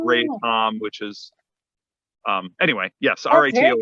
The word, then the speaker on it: RATOM: So that's why it's Ray Tom, which is anyway, yes, R-A-T-O-M, cool.